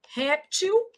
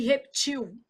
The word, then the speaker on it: réptil: Então você tem algumas aqui bem interessantes, uma que já caiu em prova, ó, vou colocar aqui para baixo, ó, réptil e reptil.